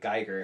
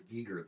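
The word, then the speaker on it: Giger: Geer. Oh, Geger. Yeah. It's like Geer Cher. And I heard it was Gager the other day. We've been saying it wrong all this time, but anyway.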